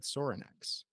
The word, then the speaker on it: Sorinex: again you're the marketing and sales director at sorinex am I pronouncing that correctly yep and this might seem